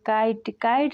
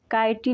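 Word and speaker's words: kite: For example काइट में word के last में ई आया है तो इसका उच्चारण काइटी नहीं काइट हुआ है।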